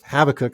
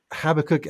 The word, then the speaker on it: Habakkuk: that she named habakkuk so whenever I say the book of Havoc I have to be careful to remind myself of the correct pronunciation but um habakkuk I think is such